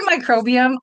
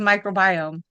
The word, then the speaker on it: microbiome: So, did you say microbium? I thought it was microbiome. Oh, I did, didn't I? It's fine. Tomato tomato. I'm like, have I been saying it wrong this whole time? Who knows? You know, uh, microbiome sounds a little bit more right though.